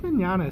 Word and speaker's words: Mignogna: two points but vic Mignogna sounds like he's Italian I mean that's how he actually tells people how to pronounce his name he says just think of it like an Italian I think him in